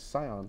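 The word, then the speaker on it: Tsion: T-S-I-O-N. Yeah, it's like it's Scion.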